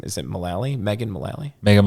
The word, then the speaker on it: Mullally: yeah, he came in with I can never pronounce his wife's last name. Is it Mullally? Megan Mullally? Megan Mullally, yeah.